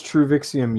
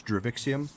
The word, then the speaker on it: Druvixium: And what was Truvixium used for? I forget. It's made for the It's pronounced with a D. It's Druvixium. Druvixium.